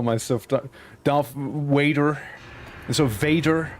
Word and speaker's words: Vader: So Vader. I need to enunciate the V a little more. Vader. Vader, not waiter.